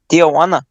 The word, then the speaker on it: Tijuana: got the action down tijuana is how they say it you gotta go with the the dj you get a juana tijuana a tihawana honda he ain't no